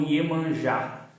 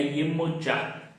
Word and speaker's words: Yemoja: Aqui no Brasil é conhecida como Iemanjá, mas a pronúncia correta do seu nome é Iemoja.